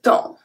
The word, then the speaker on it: temps: E-M make the sound en is exactly as E-N, A-N, etc. Here it's spelled as E-M just because it's followed by a P.